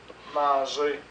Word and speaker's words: manger: prononce pas le r manger on ne prononce pas le R et travailler on ne